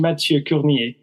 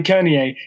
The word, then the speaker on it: Mathieu Curnier: For the French-speaking contingent of our listeners, my guest today is actually Mathieu Curnier. But I was asking Matthew just now how the pronunciation works, and apparently Kernier is fine in English.